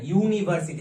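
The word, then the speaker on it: university: কিন্তু এন লিখবো না প্রথমে দেখে নিই এর উচ্চারণটা ইউনিভার্সিটি তাহলে কি দিয়ে শুরু হচ্ছে ইউ মানে উচ্চারণের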